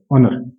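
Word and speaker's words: honour: एन ओ यू आर ऑनर तो देखा जाए इसमें एच जो है साइलेंट है तो यहां पे एच को कंसीडर नहीं किया जाएगा क्योंकि साउंड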